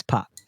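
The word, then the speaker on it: Paris: But if you want to do it well, it's PAR. My wife is French, so she would tell me that it's certainly not pronounced the S.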